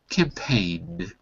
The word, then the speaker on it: campaign: It's got a silent G. So the first word is campaign.